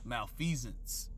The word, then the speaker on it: malfeasance: Let me get that word here because I pronounced it incorrectly. Malfeasance.